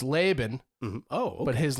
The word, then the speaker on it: Laban: Laban? They do that. That's one of them. Hmm. Laban, Laban, everything but Laban.